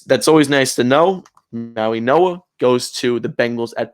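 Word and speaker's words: Mauigoa: The the G is silent. It's actually an N, which is we and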